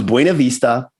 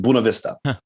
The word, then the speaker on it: Buena Vista: because she knew that if she pronounced the word right the whole congregation would laugh at her the word was Buena Vista and everyone there said Buna Vista so she said what